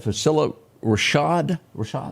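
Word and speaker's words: Phylicia Rashad: And you pronounce that Facilla Rashad?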